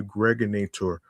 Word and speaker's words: Gregonator: This is your man and homie, aka the Gregonator, rhymes with now or later.